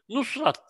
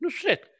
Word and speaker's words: Nusret: mı diyeyim ne diyeyim, Nusrat derler. Ya Nusrat diye bir şey yok. Bu Osmanlıca'nın sesli harflerin okunuşuyla ilgili bir şey. Türkçe'de bu eğer Kamal değil de Kemal ise Nusrat diye bir isim var mı? Yok, Nusret. Bu kadar basit yani.